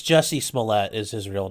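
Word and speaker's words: Jussie Smollett: he's the trial for that um is it pronounced juicy smoolay no it's jessie smollette is his real name okay juicy smellier the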